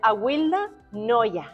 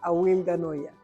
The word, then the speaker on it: Awilda Nolla: Ella es Awilda Noya. Exactamente. Así se pronuncia tu nombre. Sí, así mismo, Awilda Noya.